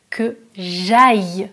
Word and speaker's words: que j'aille: Attention, la différence entre le verbe avoir et le verbe aller, la prononciation est différente. Que j'ai, verbe avoir, c'est différent de que j'aille du verbe aller.